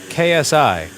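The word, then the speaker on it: ξ: me being pedantic but g is pronounced as ksi ksi i thought ksi is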